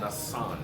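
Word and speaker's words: Nacán: Nakan, but it's pronounced Nakan. Nasan. Nasan. Right, which Okay.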